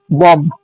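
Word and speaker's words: bomb: এর উচ্চারণ করিনি ফর এক্সাম্পল আমরা দেখ বিল উচ্চারণ করা চলে না। যেমন ফর এক্সাম্পল আমরা লিখেছি বি ও এমবি কি হয়? বম।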